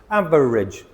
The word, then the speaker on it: average: Average. Average. It means the middle ground. Not really good. Not really bad. Somewhere in the middle. Average. Average. Not average. Average. Two syllables.